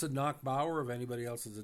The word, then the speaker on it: Nachbaur: But we pronounce that in college as Nakbower or Nick, not Nick Bower, but Knackp Power. That's just a maritime pronunciation.